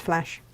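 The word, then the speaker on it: Flach: here we go so it's spelled with a c f l a c h it's still pronounced flash which is brilliant oh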